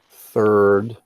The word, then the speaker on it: third: We say first, second, third. Third sounds like 30. Okay, 30 or 13. Third. Third, she needs to work in a salon to get experience.